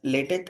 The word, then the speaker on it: LaTeX: system for high quality type setting and is pronounced as latch and latch and not lat to latex latex